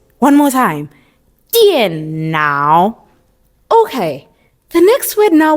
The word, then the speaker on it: 电脑: And how do we pronounce it? 电脑, 电脑, 电脑. All right? One more time. 电脑.